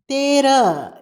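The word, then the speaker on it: तेरह: அடுத்ததுத 13 தேர தேர இங்கும் அப்படித்தான் தேரஹ என்று எழுத வேண்டும் உச்சரிக்கும் போது ஹவை அடக்கி உச்சரிக்க வேண்டும் 14 சவத சவத இங்கும்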